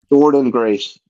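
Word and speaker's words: Jordynne Grace: Jordan Grace. That's not how it's spelled. but That's that's how it's how it's pronounced.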